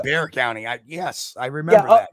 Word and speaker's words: Bexar: um you know we we pronounce it bear the the x is is silent um oh that's right that's right Bear County I yes I remember